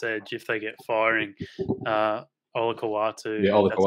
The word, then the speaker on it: Olakau'atu: Olakau'atu, that's how you pronounce it.